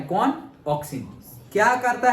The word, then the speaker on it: auxin: ऑक्सिन, पहला कौन सा है, ऑक्सिन, ओके ए है बट प्रोनाउंस होता है ऑक्सिन।